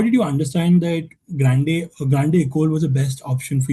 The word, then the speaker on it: Grande École: Because uh I came across a particular term which is Grande École, I think if I'm I mean uh pronoun- pronouncing it correctly. It's Grande École. Or Grande École.